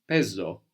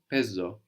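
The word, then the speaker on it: παίζω: I play is pezo pezo pezo so this is spelled p which is the letter that looks like the mathematical symbol the pi no a i which gives us the a sound like in K the word for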